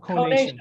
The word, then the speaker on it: conation: Conation with a long O is how you do what you do, not Thank why.